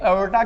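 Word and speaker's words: aorta: तो ब्लड यहां से ऐसे निकलेगा, इसका नाम क्या लिखा है हमने, एओर्टा, ठीक है, एओर्टा बोलते हैं इसको हम, ठीक है, इसमें र प्रोनाउंस नहीं किया जाता है, एओर्टा।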